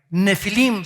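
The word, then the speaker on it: נפילים: en el hebreo es la palabra nepil con pH intermedia nefilim se pronuncia y esta palabra viene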